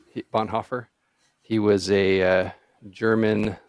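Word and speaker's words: Bonhoeffer: this guy's name d Dietrich Bon Hofer Bon heffer I think you nailed it the first time Bon Hofer he was a uh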